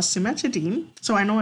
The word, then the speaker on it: cimetidine: see over here this medication over here called cimetidine so I know it's as dying but it's a she's pronounced as Dean cimetidine is a medication that we had to be